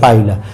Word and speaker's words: Pila: প্রাণীটা হলো পাইলা PILA অনেকে এটাকে পিলা উচ্চারণ করে এটা কখনোই পিলা না এটা পাইলা আমরা পাইলা গ্লোবোসা দেখি